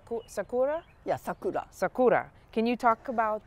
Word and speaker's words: sakura: talk us through the six stages is it pronounced sakura yeah sakura sakura can you talk about uh the sixth